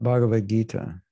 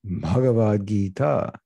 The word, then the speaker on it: Bhagavad Gita: It means a long I and a long A.